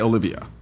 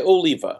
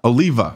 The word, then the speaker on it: Oliva: So, how how do we say how do you how do you say your last name? Uh, Oliva. Oliva. Okay. Okay. Gotcha. I tried to call you Olivia.